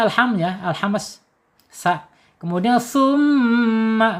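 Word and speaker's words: ثُمَّ: Kemudian summa baca gunnah ya, ditahan 2 sampai 3 harokat.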